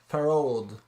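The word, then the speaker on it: Pharod: It's Pharaoh, and then a D at the end. Farod.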